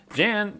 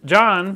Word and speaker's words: Jan: bunch of stuff here Jan John sent me sorry John I keep doing that it's spelled j an but over there it's pronounced John just to clear that